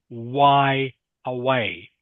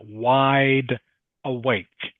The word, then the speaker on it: wide awake: So this word here is wide. D is the final consonant. Okay. In this word here, awake. K is the final consonant. All right? So you cannot say why away. Why away? No one knows what you are saying. Must say wide awake.